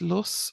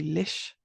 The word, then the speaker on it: lus: often say with the like the older Irish, it's it's lus or loose. Um, but it can also be lish. In modern Irish, if you're reading this in modern Irish, that would be lish.